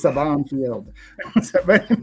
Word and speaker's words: Saban Field: Yeah, it's You're putting the Saban wrong Field. emphasis on the wrong syllable. It's a lot like Mr. Portal. It's Saban Field.